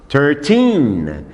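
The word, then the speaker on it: thirteen: Vejam Só número 13 a pronúncia thing e é muito importante que você faça esse som no final ter TIM porque é muito fácil confundir 13 com 30 14 com 40 15 com 50 16 com 60 17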